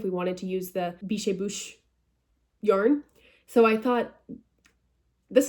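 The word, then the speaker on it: Biches et Bûches: space ET space BUCHES, which as an American, an English speaker, if you will, I read as bitches and butches. I was like, bitches and butches, hell yeah. Biche et bouche is, I believe, how you pronounce it in French, en français.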